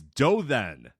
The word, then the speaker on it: Dothan: It's Dothan. Dothan is how you pronounce that.